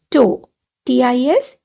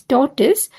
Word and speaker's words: tortoise: o w space t i s now try pronouncing it t o w to t i s t together torus totis torus if you have